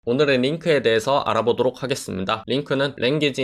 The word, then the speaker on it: LINQ: 오늘의 링크에 대해서 알아보도록 하겠습니다 링크는 랭귀지 인터 크레이티브 쿼리로 데이터를 읽고 정년 하는 등 7이 기능을 합니다 링크 로 발음하고 요 우리가 아이템 클래스를 만들어서